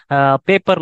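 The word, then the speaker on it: paper: Suppose எண்டுல வர மாதிரியான example பார்த்தீங்கன்னா பேப்பர்னு சொல்லலாம். ஸோ எப்பவுமே பேப்பர் அப்படின்னு இழுத்துறாதீங்க. ஸோ பேப்பர் அப்படின்னு சொல்லுங்க. பேப்பர் அப்படின்னு சொல்லி பார்த்தீங்கன்னா உங்களுக்கு வந்து லைட்டா தெரியும். லைட்டா இருக்கிற மாதிரி இருக்கணும். ஆனால் அது வந்து ப்ரொனவுன்ஸ் பண்ணிடக்கூடாது.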